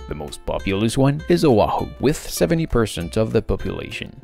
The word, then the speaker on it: O'ahu: And there is the apostrophe, which create a kind of pause in the word, like in Oahu. Otherwise, it would be like Wahoo.